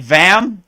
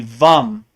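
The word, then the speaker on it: वं: chakra it looks like vam but it's really vom vom and then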